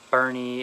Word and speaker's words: Boerne: that works it's a it's an old german name and then it's of